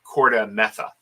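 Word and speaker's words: KordaMentha: reeves read read and eric i hope i pronounced this correctly eekoff e-e-k-h-o-f and they originally published this in uh corta metha k-o-r-d-a-m-e-n-t-h-a for those who are there so um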